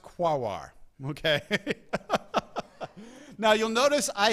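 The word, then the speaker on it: Quaoar: Quoir, Sedna, and Orcus. Okay. Yes, it is pronounced quawar.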